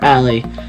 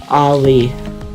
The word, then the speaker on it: Ali: people wrongly call her Allie instead of her actual name pronounced Ali after the mountain in Taiwan.